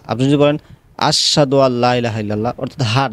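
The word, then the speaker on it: أشهد: আপনি যদি বলেন আশহাদু আল্লা ইলাহা ইল্লাল্লাহ, অর্থাৎ হাট আপনি ছেড়ে দিলেন, হবে না, ভুল হবে। বলতে হবে আশহাদু আল, আশ হা, হাটা উচ্চারণ করতে হবে।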